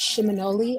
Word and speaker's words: Seminole: or Muskogee word, and it's pronounced Shimonoli or Seminole.